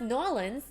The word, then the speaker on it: New Orleans: We went from New Orleans to Nolans. Oh, it's pronounced Nolans.